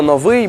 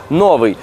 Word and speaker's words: новий: залишилась для наших нащадків Усім відомо що слово новий має наголос на другому складі проте часто в усному мовленні Ми чуємо що кажуть новий наголошуючи його на першому так як це властиво російському відповіднику слову новий запам'ятайте що в українській